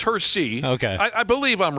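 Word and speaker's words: Hersey: Or Yeah, it wasn't Hershey. It was Hersy.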